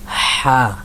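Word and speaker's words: ح: এর দিকে যদি যাই হা এটা অনেক ডাবানো একটা হরফ আপনি যে আপনার যে গলার কণ্ঠনালী কণ্ঠনালী এদিকে একটু হালকা চাপ দিবেন মানে ভিতর থেকে হাটু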